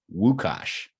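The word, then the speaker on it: Łukasz: Lucas but in but in Poland you would pronounce that wuka like with a W wos all right I got woash and then his friend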